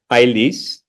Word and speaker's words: Agulis: And this is the most important town in that region, the town of Agulis, that Azerbaijanis pronounce Aylis, a town dotted in 12 majestic churches that were founded by the apostles and rebuilt by medieval merchants.